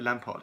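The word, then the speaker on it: Lampaert: Yves Lampert, sorry. They pronounce it like Lampard.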